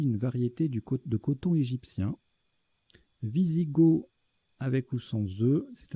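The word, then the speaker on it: Wisigoth: Visigoth, avec ou sans œufs, c'est un adjectif, on l'écrit avec un W, on ne prononce pas le TH.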